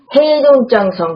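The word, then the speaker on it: 黑龙江省: 헤이동장성, 그러니까 다시 말하면 흑농강성의 그 지지헐시라는 지역에 속하면서 그 헤이동장성 서북부에 위치한 곳이라고 합니다. 헤이동장성이라고 얘기를 할게요. 흑농강성도 우리나라 한국분들은 많이 알고 계시지만 중국 발음은 헤이동장성이거든요.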